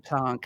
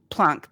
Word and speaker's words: Planck: I always feel weird saying Planck. I feel like I'm faking the name. But I think that's how you say it if you're German.